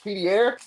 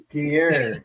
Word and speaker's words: Pierre: Hyder, did you mispronounce that? Isn't it Pierre? Pierre.